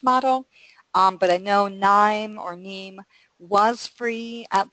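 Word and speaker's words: KNIME: I've used both um I'm probably going to mess up the pronunciation of this but Nim or NE which is k n i m and then also rapid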